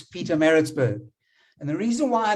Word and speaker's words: Pietermaritzburg: And Sashin, you spoke about Pietermaritzburg last week, and you battled to pronounce it. Well, I'm now correcting you and saying it's Pietermaritzburg.